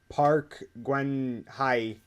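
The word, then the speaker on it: Park Geun-hye: and during the ceremonies the North Korean president Park Gwen hi I'd probably butchered that but I believe that's how it's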